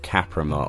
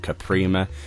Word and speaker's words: Kaprima: This is of Kaprima, or of Kaprima, depending on how you want to pronounce that.